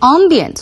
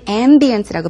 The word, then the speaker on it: ambience: 곳 그런 곳이다라고 하면서 the ambient 속은 ambience고 발음을 하셨죠 is very very nice